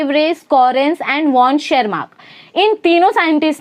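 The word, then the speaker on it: Tschermak: Hugo de Vries, Correns and वॉन शेरमार्क, टी is silent of शेरमार्क।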